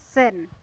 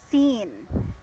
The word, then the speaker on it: scene: one okay sorry aside this is how you pronounce it sin okay but this is we have to do a lumber and it's scene yes scene when you say sin it's like like you committed your scene you're gonna come into